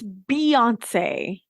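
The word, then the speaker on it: Beyoncé: often wrong about things well it's Beyonce and yes it's spelled b-e-y but it's Beyonce so if you shorten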